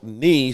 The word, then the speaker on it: knee: Well, if you don't know that knee is spelled with a K, knee sounds like N-E-E.